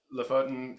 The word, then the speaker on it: Lofoten: Tell us, Lofoten, tell me how to pronounce it.